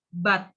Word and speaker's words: bought: Tapi itu dibacanya cuman gini aja, but. Seperti tetapi. Tetapi kan but, ya. Itu dibacanya but.